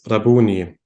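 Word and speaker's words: Rabbouni: so this is the Aramaic word and this is pronounced as rabuni and is nowadays typically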